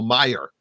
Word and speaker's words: Meyer: I try to call him Neil Mile. Neil Meyer. That's the right way to say it.